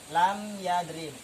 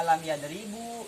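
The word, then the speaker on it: لم يضرب: Lam yadrib. Tanda jazm diantaranya dengan sukun. Tidak dibaca lam yadribu, tidak dibaca lam yadribi, tidak boleh dibaca lam yadriba.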